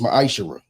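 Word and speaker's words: מעשר: Chapter 3 verse 8-10 means 10th in Hebrew and is pronounced maisher.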